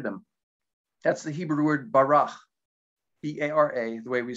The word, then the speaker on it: bara: That's the Hebrew word barach, B-A-R-A, the way we spell it.